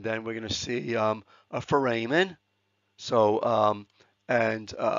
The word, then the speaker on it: foramen: lot guys and then foramen this pronounced foramen like Foreman okay these are small holes